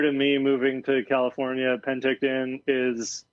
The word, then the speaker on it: Penticton: you and uh and i'm going to pronounce this so wrong panictin when we ride does that make sense to pronounce it right that's the penticton there we go nbc um i mean